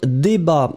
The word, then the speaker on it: débat: Un débat. So, remember that the way to write it will be D-E accent aigu, B-A-T. Final T is not pronounced, but still it should be here.